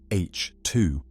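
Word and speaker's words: H II: These regions, known as H2 regions, pronounced H2, mark the nurseries where stars have just formed.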